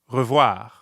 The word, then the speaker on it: revoir: Yep, re starts with that French r we've come to know and love. Re. And voir is easy because it rhymes with soir, like in bonsoir.